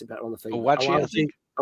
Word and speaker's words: Awaji: They pronounce it better on the thing. Awaji, I think. Awaji.